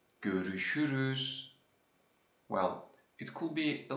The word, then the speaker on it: görüşürüz: So, as you see, my mouth is always open and round while pronouncing it.